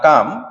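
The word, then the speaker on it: calm: তো আমরা যদি বলি দ্য কাম, এলের উচ্চারণ হবে না, দ্য কাম comes after the storm, আফটারকে বাদ দিলে দ্য স্টর্মের সঙ্গে কোনো সম্পর্ক থাকে না, সো এটি প্রিপজিশন।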